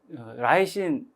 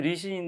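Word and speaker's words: lysine: 않습니다 여러 보안 은주 잃지 않고 혹시 제가 발음을 라이신 이라고 표현해도 다른 그제서 리신 드웰 rc 이라고 하죠 그런 것들은 뭐 크게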